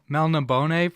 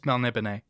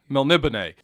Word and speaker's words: Melniboné: Yeah, I was pronouncing it Melniboné until I listened to one of the audiobooks that had an introduction from Moorcock, and it's Melniboné. Melniboné.